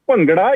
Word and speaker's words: Bhangra: Bhangra? The correct pronunciation is Bhangra. You're very close. The thing is that sound is missing in Western languages.